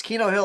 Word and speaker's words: Keno Hill: Yes, Keno Hill, like the gambling game Keno.